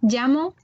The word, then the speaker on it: llamo: Alors, le son, la lettre, enfin le son, le double L en espagnol, il va se prononcer comme s'il était écrit LI. On t'écoute? Me llamo Me llamo, d'accord?